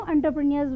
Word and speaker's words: entrepreneur: even bribery, and new entrepreneurs were not allowed to come. I wish to tell one important thing here. We often see this word, but it is pronounced as entrepreneur.